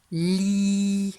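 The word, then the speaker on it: lit: Li, ensuite j'entends I, et la dernière lettre c'est le T, c'est une lettre muette, il faut l'écrire. Li, ça s'écrit comme ça, avec un T qu'on n'entend pas à la fin.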